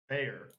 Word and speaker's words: Behr: you guys carry Valspar bear the German company bare paint is there's no there's no a in that beer it's pronounced bear in the United States b-e-h-r okay is it isn't